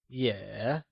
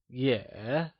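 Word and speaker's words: 也: you try and say yeah it is said with a falling rising tone also known as the third tone like yeah well done now let's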